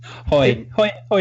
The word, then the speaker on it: Haughey: We should say our name is Haughey, and I'm like, it sounds a lot like the braying of a donkey to me. So I prefer the incorrect pronunciation in this case. Haughey is much simpler.